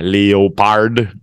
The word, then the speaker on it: leopard: tiger the rest are okay um leopards yeah leopard but it's a leopard that's how we pronounce it leopards leopards snakes snakes uh sharks